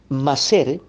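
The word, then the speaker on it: maaser: también tenemos el vocablo original hebreo tal como se escribe bien masser este vocablo hebreo va a ser significa Sencillamente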